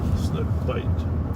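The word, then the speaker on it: Bight: And I've always mispronounced it as Snook Bright. Okay, and finally when I figured out it was Snook Bite, well, Bite is supposed to be I-D-E, right?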